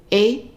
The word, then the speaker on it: et: And then we add in and you, et vous. The et at the end of a word or on its own always pronounces an A.